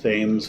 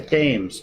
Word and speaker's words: Thames: Or actually, they pronounce it wrong. They call it Thames Valley.